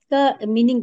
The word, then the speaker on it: calm: ये मुझे एक बार ये काल का मीनिंग बता दीजिए। इसका ये क्या है? काल्म बोलेंगे, बैलेंस योर एनर्जी एंड काम। काल्म। काम। काम, इसमें काम। एल जो है, एल इसमें साइलेंट है।